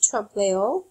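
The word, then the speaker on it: trompe-l'oeil: There's also a word that you should be familiar with um trump um which means French for to deceive the eye. Um, it's spelled t r o m p e um hyphen l apostrophe o e i l trao.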